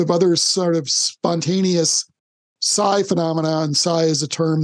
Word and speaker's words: psi: We lump all those words together into the Greek letter psi, which is like the trident kind of thing. And it's spelled PSI. And we just call it psi.